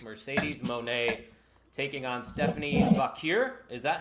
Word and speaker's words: Vaquer: title match, is Mercedes Moné taking on Stephanie Vaquer. Is that how you pronounce that?